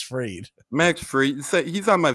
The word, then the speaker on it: Fried: to say his name it's Max freed Max free he's on